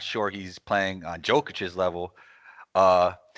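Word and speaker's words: Jokić: I mean, Julius Randle's playing really great, but I'm not sure he's playing on Jokic's level. Uh, his name's actually Jokic. I should say his name correctly because I think he is the MVP.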